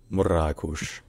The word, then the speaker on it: Marrakech: hello drans here Marakesh is a city in Morocco known for historic Medina VI market and as a popular tourist destination locally the name of the city is pronounced morush morush morush morush all right if you enjoy